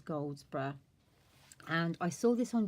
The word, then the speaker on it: Goldsbrough: from a lady called Denise Goldsbrough, or Goldsbrough, but I think it's pronounced as Goldsbrough.